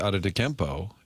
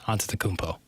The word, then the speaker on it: Antetokounmpo: And you got props yesterday for saying Giannis Antetokounmpo during your updates. Yes, Antetokounmpo. Martin. Well, I got praised for pronouncing it correctly, and you just pronounced it incorrectly.